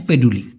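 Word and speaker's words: peduli: হচ্ছে পেন্ডুলির মানে কি দেখুন অনেকে পেন্ডুলি বলে আবার বেশিরভাগ ক্ষেত্রে এই পেন্ডুলি না বলে হচ্ছে পেডুলি পেডুলি লিখতে গেলেও পেডুলি হয় এই পেডুলি এবং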